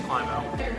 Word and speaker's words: Climo: You've been saying her name wrong, it's Climo.